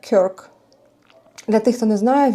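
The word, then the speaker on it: Kirk: В Україні кажуть Кірк. На англійській це читається Крк.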